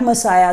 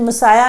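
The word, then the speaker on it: Messiah: Judas and the black मसाया the pronunciation of the word is मसाया एंड नॉट मसिया एज we pronounce it in Hindi Judas and the black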